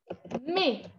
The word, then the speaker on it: mais: On sait toujours tous que le mot mais, este es como el más común. En francés la palabra pero es mais. ¿Por qué? Porque la A y la I yo la pronuncio como una E, siempre.